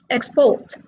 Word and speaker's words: export: these are all verbs two syllable verbs are stressed on the second syllable and the second column these words are all nouns and they are stressed on the third syllable as you can see